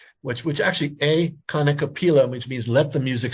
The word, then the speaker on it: kanikapila: And then one last thing, David, if someone wants to be involved in the Kanikapila project, I hope I said that right.